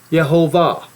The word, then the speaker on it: Jehovah: Lord see that or actually it should be said and I have to learn to say it correctly yahovah you see how the the last um um the last part of the word is accented or the last syllable is accented came saying son of